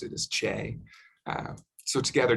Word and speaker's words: CHE: environment and we often abbreviate it as che and pronounce it as che so together j and